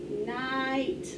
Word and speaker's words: night: i gh long i we don't hear the i or the g i mean it's not the i the g and the h misspeller's having trouble today it's a long i sound no g or h sound and that truck wrap